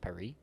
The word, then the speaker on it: Paris: Me neither outside of that one movie here with Owen Wilson, Midnight in Paris. Yeah. Um, it's pronounced Pare.